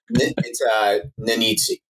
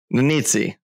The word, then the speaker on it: Nannizzi: So today we have Shane Bigelow, founder and CEO of Champ Titles, and Mike Nannizzi? How am I pronouncing that, Mike? It's Smith, actually. Nannizzi. Nannizzi.